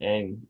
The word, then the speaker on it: Ng: It's pronounced Ang, supposedly.